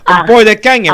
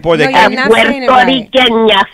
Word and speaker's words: puertorriqueña: Santana, in Puerto Kenya, right? Am I saying it right? In Puerto No, Kenya? you're not saying it right. Puertorriqueña, sí, Puerto Riqueña.